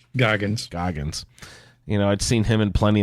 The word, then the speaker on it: Goggins: Walton Groggins or Goggins? I forget. Goggins.